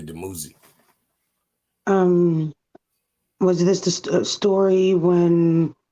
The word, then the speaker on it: Dumuzi: That's how they say it in English, but it's really Dumuzi.